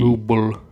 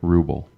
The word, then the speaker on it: ruble: Ruble. Ruble with a B, as in boy or bus or bussy.